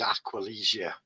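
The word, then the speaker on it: Aquilegia: the uh D Centra Coline that's how you pronounce it yeah the the real name is aqualia aqualia like Aqua or Aqua a q u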